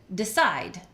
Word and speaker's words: decide: Same thing with decide. Side gets all the energy. The first syllable is not stressed and it just comes out as a D and a schwa. Decide.